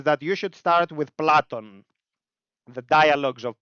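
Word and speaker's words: Πλάτων: Socrates written by platon in English they call him Plato but I think you know Greeks are online so you can ask them how to pronounce Greek words it's fine don't be shy it's okay it's platon aristotelis Socrates and we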